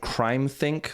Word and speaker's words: CrimeThinc: And I came across a website called CrimeThink, which is spelled CrimeThinc.